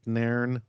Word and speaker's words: Nairn: in alberta we got naren barnes did i say your name right nern barnes yeah you're you're on bar that's that's better than most people do that's actually bang on one syllable so naren is in